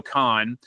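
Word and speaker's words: Cahn: And this was, when the creator, Joe Kahn, who its last name is spelled C-A-H-N, he was the guy that founded the New Orleans School of Cooking, like Peter said, in 1980.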